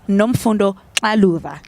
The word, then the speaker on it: Nomfundo Xaluva: I have the honor and the privilege to be chatting to the beautiful Nomfundo Xaluva.